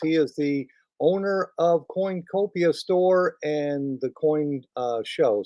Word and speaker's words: Coinacopia: The name of it is Coinacopia, spelled with an A in the middle, Coinacopia.